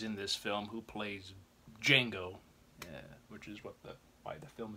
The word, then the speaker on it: Django: He's in this film who plays Django, which is why the film is named Django. He spells his name for him. He says, "Oh, the D is silent."